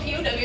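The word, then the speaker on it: pau: So like the word pow, it's not spelled P-O-W, it's spelled P-A-U.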